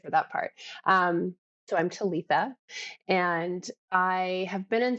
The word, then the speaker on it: Talica: Talitha. Talisa. Talitha. The C is a TH. Talita. Yeah. Oh, Yeah. wow. Talitha.